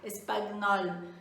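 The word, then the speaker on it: espagnol: Mas assim, o GN no francês, ele corresponde ao nosso NH, certo? Então, por isso que eu falo espanhol, tá? Porque o GN tem um som parecido com o nosso aqui do NH.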